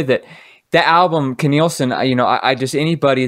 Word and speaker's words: Nilsson: And another album that really, really, really affected my life in a positive way was when I discovered it was Zak Nilsson. That's how you pronounce it, right?